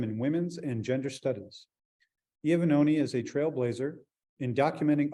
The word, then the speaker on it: Iovannone: We are welcoming for our 11 o'clock slot, Iovannone. Did I pronounce that right?